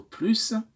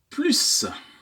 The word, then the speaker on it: plus: maintenant quant au plus le S de plus est tantôt prononcé tantôt il reste muet et parfois on ne prononce comme Z quand on fait la liaison avec ce s la fin de plus différents exemples pour illustrer